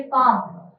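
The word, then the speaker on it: palm: मी याचं जे खरं उत्तर आहे मुलांनो इथे पाम पाम या स्पेलिंग मध्ये काय आहे हे जे आहे पाम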